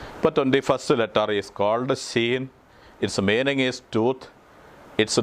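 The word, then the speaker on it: Shin: ഒരു അടയാളം കൊടുത്തിരിക്കുന്നത് കാരണം അത് സ ശ് എന്നാണ് ഉച്ചരിക്കേണ്ടത് സ എന്നല്ല ശ് എന്ന ഉച്ചാരണം അപ്പൊ 21st letter is called ഷീൻ it's meaning is truth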